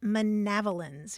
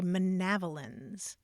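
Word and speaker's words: manavalins: change or miscellaneous items and that word is manavalan it's it's just a lovely word to say manavalan manavalan spell that for me well Herman Melville spelled it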